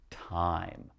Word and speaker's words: time: we go ahead and if we put silent e there that means now time okay what time is it all right not timmy again silent e don't say it but now you have the long i sound time all right if you